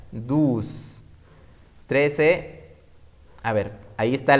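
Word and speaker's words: douze: La O y la U juntas en cualquier número o palabra en francés se pronuncian como U. Por eso en el 12, mira lo que dice. Dus. La E no la voy a pronunciar.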